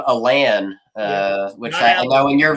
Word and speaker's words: Alan: Another weird pronunciation is middle name Alan, which I know in your video you took that C-SPAN clip and put that in there.